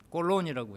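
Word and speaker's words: Colón: 아셔야 돼요 중남미 사람들한테는 콜럼버스 하면 못 알아들어 꼴론이라고 해야 돼 그런데 이제 왜 그런데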